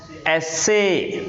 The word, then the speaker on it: essay: When it is a verb, it is pronounced as essay. What? Essay. Essay. Points clear? Yes, sir. When it is noun, it is pronounced as essay.